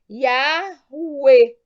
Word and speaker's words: Yahweh: Ora, unindo-se 3 passos acima, chegamos à seguinte pronúncia. Yahweh. Yahweh, dependendo do sotaque.